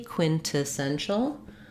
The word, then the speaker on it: quintessential: Right now I'm saying it with a true released T, quintessential. Quintessential.